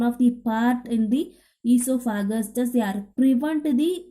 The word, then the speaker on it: esophagus: Here O is silent. Esophagus.